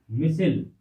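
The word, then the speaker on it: micelle: मिसिल। आप इसको मिशेल भी कह सकते हैं। अलग अलग प्रकार से अलग अलग लोगों की वाणी होती है, उस हिसाब से इसके कई प्रोनाउंसिएशन निकलते हैं।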